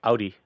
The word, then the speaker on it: Aldi: first shopped at an Aldi, by the way. Um cuz Aldi is like considered a very high-end grocerers market in Germany, but they say it like Audi Audi.